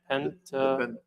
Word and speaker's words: Pentateuch: So for the sake of notes, we will be talking about how do you pronounce it, Pastor Patrick? Pentateuch.